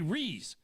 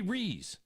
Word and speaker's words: Rees: really Rees it's Tommy Reese it's not Tommy Reese it's not Tommy Reese Davis it's not Tommy Reese's Pieces it's Tommy re that's it I immediately discount any